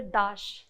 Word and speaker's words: Dash: major to distinguish yes but the pronunciation is the same it is Dash yes yes Das is